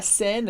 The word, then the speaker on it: Seine: E la Seine, a gente fala Seine, esse som bem aberto, porque E, I, como regra geral, dá o som E.